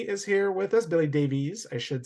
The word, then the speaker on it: Davies: for both Billy and ramble wines Billy Davey is here with us Billy Davies I should say um the proper Welsh Welsh pronunciation I assume that's the origin of that